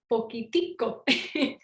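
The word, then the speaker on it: poquitico: kind of little smaller they'll say poquito but costa ricans we add an extra syllable so it's pokitiko yup so that's where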